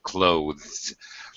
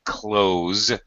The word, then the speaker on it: clothes: percent of the time native speakers just pronounce it close with a Z sound in fact it sounds exactly like the verb to close the door close the door it